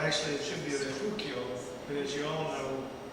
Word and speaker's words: Refugio: He's a member of your Refurio, actually it should be a Refugio, but as you all know, we mispronounce it probably on purpose because it's a Mexican word, and we weren't pleased with those back in the old days.